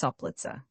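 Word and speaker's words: Soplica: Right falcon, right crop-tailed, right pronounced soplitza.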